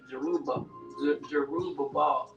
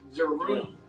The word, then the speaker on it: Jerubbaal: And I just realized too, the name was pronounced Jerubbaal. So like Jerubbaal. There's two B's in there. So I just want to make sure I said it right.